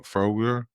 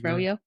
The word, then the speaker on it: Froyo: So we can thank him for Froger, or what am I pronouncing that? Froger? Froyo.